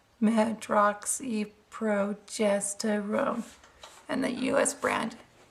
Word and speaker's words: medroxyprogesterone: oxy progesterone tablets and it's pronounced medroxyprogesterone and that you as